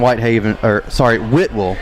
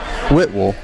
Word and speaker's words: Whitwell: So Cornersville pretty much shut down Whitewell. I said it wrong. Whitwell.